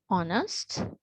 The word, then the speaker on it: honest: So we will start with silent H today and the others we will do as we go along, right? Okay, so listen carefully. What, when, why, which, whether, ghost, honest, hour, while, white, via, rhythm, right?